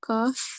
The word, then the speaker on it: ق: The kaf near the end. Yes, you are right. Kaf. So we have we should pronounce it with a thick sound or fuller mouth.